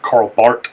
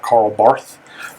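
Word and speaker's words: Karl Barth: is uh very significant this is carl bart not carl barth that's how you pronounce his name and so two significant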